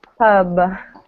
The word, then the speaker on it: pub: good perry berry perry really exaggerate the b sound at the end of the world pub good okay good and